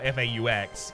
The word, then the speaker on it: faux: So I'm assuming that faux, or F-A-U-X, is the version of fox that's existing in this world. So I'll say fox from now on. Be aware, I'm aware that it's pronounced faux.